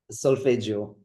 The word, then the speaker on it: Solfeggio: You deal with, I hope I'm going to pronounce this correctly, Solfeggio frequencies. Is that right? Solfeggio.